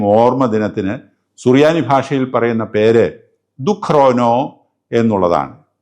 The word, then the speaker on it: ദുക്റോനോ: സുറിയാനി ഭാഷയിൽ പറയുന്ന പേര് ദുഖരോനോ എന്നുള്ളതാണ് ഈ വാക്കിന്റെ കിഴക്കൻ സുറിയാനി ഉച്ചാരണ രൂപം ദുഖാന എന്നാണ് ആ വാക്ക് ലോപിച്ചാണ് ജൂലൈ